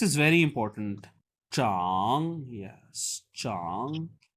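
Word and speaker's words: 长: यस, चांग। ये जो character है बेसिकली इसकी 2 प्रोनाउंसिएशन होती है। इसको छांग से भी पढ़ा जाता है, हमने पहले भी पढ़ा हुआ है।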